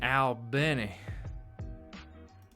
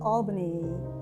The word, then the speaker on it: Albany: the people of the city of Albany like many I mean wait a second why are they pronouncing it like Albany New York I thought it was Al Benny what is this [